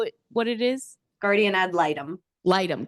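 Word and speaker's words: guardian ad litem: Um I call it a g but guardian ad litum. Is that how it what it is? Guardian ad lightum. Lightumm. Guardian at lightum.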